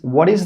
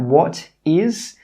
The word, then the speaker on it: what is: The last phrase for today is, what is the purpose of your trip? Note here that what is normally pronounced as what is.